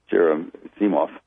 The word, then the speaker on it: Gerasimov: Wall and the Russian advisor, I mangled the pronunciation, Gerasimov, Valery Gerasimov, who's the chief Russian guy, and